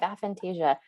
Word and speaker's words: aphantasia: You said something that you have something called aphantasia. Did I say it right? Oh, Do you want to I have aphantasia.